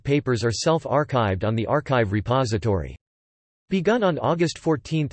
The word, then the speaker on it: arXiv: ArXiv, pronounced ArXiv, is a repository of